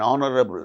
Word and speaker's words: honorable: For instance words beginning with a silent H in the words hour, an honor, an honest man, an heir, an honorable man. In all these cases, these words begin with H, which is a consonant